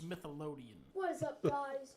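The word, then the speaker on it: Smithsonian: It's pronounced Smithelodian.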